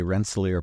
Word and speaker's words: Rensselaer: I asked you how to pronounce it before, and I've already forgotten. It's okay, Rensselaer Polytechnic Institute.